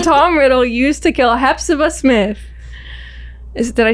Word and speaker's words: Hepzibah: What method did Tom Riddle use to kill Hepzibah Smith?